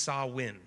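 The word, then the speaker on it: Samhain: called Sam ha uh which is a Gaelic word but it's pronounced sawin okay that was what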